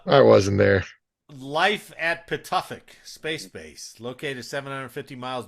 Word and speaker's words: Pituffik: It's I can't pronounce the. Pituffik. P Oh, I I was Oh, so T. close. Pafuktuk You was were so pretty damn close.